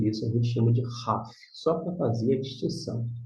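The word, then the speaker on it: Khaf: Agora, quando estiver sem o pontinho dentro, vai ser um som de RAF, uma aspiração gutural mais forte, né?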